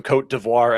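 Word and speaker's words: Côte d'Ivoire: I'm glad Brad talked first because I did not know we were supposed to call them Coat Devoir and I was ready for my Ivory Coast take.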